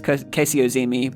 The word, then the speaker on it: Kasey Ozymy: But I think um uh and I've I've been uh mispronouncing your name this whole time. It's Casey Ozi, but uh that Yeah, I'm sorry.